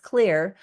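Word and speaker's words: Xlear: down with X clear which is pronounced clear but you can get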